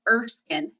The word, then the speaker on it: Erskine: to pronounce it so we hear it first fine or steam it is erskine green training institute and that's the mouthful